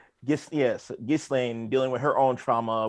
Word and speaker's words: Ghislaine: recently convicted sex trafficker, because it would be pronounced Ghislaine if it was actually French. But so we'll go Ghislaine. all right. Ghislaine dealing with her own